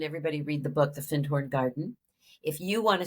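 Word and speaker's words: Findhorn: looks like fine horn it's one word but it's pronounced fin horn it was a very magical community that I highly recommend everybody read the book the fin horn Garden if you want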